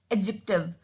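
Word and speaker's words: adjective: ये इसमें जो डी है वो साइलेंट होता है तो इसको पढ़ते हैं हम एडजेक्टिव.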